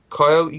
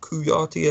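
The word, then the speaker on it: Kouyaté: Coyote guys, or Kuyati as I was told to pronounce it.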